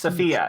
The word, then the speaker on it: Sophia: Sophia. It's pronounced Sophia. Sophia the Tide Speaker. And he underlines the middle syllable.